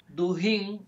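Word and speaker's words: Dugin: Duhin. Se escribe D U G I N.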